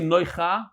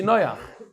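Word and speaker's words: נֹחַ: Somebody, Saul Goldstein wrote to me, you don't say Noicha, you say Noyach.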